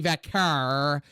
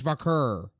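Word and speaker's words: Vaquer: Miss pronouncing wrestlers names it's not Stephanie vakar vakar it's vur say it right if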